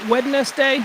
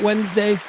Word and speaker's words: Wednesday: Uh, Wednesday is spelled strangely, right? Can we all agree? Can we all agree that wedness day is not how we pronounce it? That Wednesday is all right.